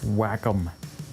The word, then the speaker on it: Wacom: pad would you get on that oh it's pronounced wacom whatever you need one of those to work